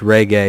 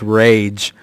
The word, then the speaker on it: Rage: Webb's pronunciation of Coach Reggae. It was supposed to be Coach Rage.